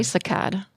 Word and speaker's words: saccade: So how do you pronounce? I say saccade.